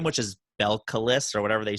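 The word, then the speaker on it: Belcalis: spanish what's the first one b east b-e-l-c-a-l-i-s belkalis i'd have to write it down i can't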